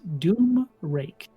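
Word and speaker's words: Domraec: R-A-E-C. Dome rack. Domrek. Pronounced Doom Rake.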